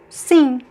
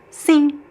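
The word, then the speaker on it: sim: Sing. Sing means yes. There's no m sound, right? Sing. Sing. Sing. You can pronounce more or less like the verb sing in English.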